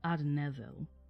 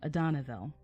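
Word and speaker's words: Adanedhel: therefore many called him adenaville or adanaville my bad emphasis on the wrong syllable um adanaville the elf man adan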